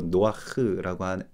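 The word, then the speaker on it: נח: 히브리 발음으로 노아흐라고 발음하죠.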